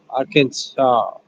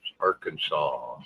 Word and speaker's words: Arkansas: Arkansas. The S is silent in end. Okay. It's Arkansas. Okay. It's spelled It's spelled R Kansas, but it's Arkansas.